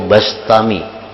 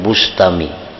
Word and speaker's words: Bistami: terpandang, dari penduduk negeri Bistam. Ia tidak pernah berpisah dari majelis Abu Yazid al-Bistami atau Albastami. Membacanya bistami atau bastami ya. Jangan bustami. Jadi bi atau ba.